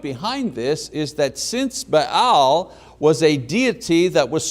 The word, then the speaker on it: Baal: influence, the worship of Baal, Melquart, who was the official nature god of Tyre, was being actively brought into the kingdom. Now the word Baal, or Baal as it's pronounced, means master or possessor or husband.